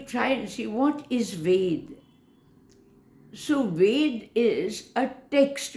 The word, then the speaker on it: Ved: begin to understand that Ved needs to be pronounced as V-E-D, Ved alone. Sometimes when we speak in English or we refer to it, we tend to say Veda. Additional A is numerically going to damage its activities or its representation.